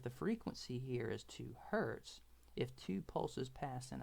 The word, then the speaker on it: Hertz: is also known as Hertz okay like the car company that's how it's pronounced all right but the unit is Hertz or 1 over second